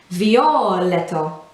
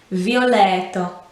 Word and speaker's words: violetto: of the word um as opposed to saying perhaps violetto you know where letto is just the second half it needs to be violet and again the t is not a harsh t sound it's verging on a d sound violetto you see how